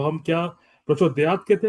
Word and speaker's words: प्रचोदयात: बोलते हैं उसमें तो वो हलंत खाली आधा बताने वाला है तो इन टर्म्स ऑफ प्रोनाउंसिंग हम ता पूरा नहीं बोलेंगे प्रचोदयात अच्छा प्रचोदयात नहीं बोलेंगे प्रचोदयात धन्यवाद प्रभु जी हां